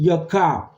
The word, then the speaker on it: Yaakov: In Hebrew, it is Jacob, which is pronounced Yaakov.